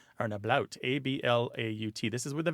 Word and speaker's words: ablaut: The second kind is where there's something called an ablaut. Or an ablaut, A-B-L-A-U-T.